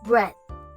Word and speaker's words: breath: bread the food one how to say this word we start with saying bread just like the first one but we end it with the the sound just like in the second word do you get it